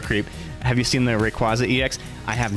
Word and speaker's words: Rayquaza: Also, I pronounce it Rayquaz just because there is no consensus on how to pronounce that correctly. So, I just go far and Rayquaz.